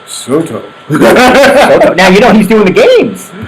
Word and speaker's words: Soto: No, wait, you're not saying it correctly. You gotta say it like John Sterling. Oh, John Sterling. Soto. Soto.